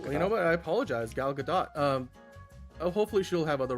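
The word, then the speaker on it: Gal Gadot: So uh but yeah, Galadot, do you pronounce the T? I thought it was anyway. Yeah. No, it is Galadot.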